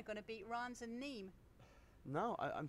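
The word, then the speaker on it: Nîmes: so I got corrected on my pronunciation of neem and I would thank Nicholas C on Twitter for correcting me on that one anyway it is neem as we're all saying it and he said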